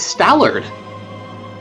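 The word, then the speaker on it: Stallord: she can go fight stalard which rhymes with malard true going for human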